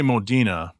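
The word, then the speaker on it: Modena: a gated 360 Modina see we always say Modina but I've also heard Moda and I looked it up and it's pronounced Modina so it was a gated blue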